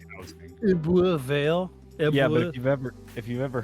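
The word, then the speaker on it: Ebbw Vale: So it's Ebervale.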